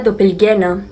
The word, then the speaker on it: doppelgänger: mismo tiempo fragmentos de un todo la palabra dopel guena Así es como se pronuncia es un vocablo alemán para definir el